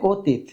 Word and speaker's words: অতীত: এটা কি করতে হবে এখানে হসন্ত দিতে হবে হসন্ত দিলে উচ্চারণটা হবে অতীত হসন্তটা কি আসলে ধরো